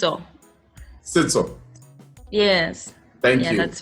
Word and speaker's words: Setso: Is that the correct pronunciation though? It's all. Sito.